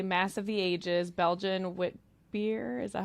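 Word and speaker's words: witbier: This is the Mass of the Ages Belgian wit beer. Is that how you pronounce it? Wit beer?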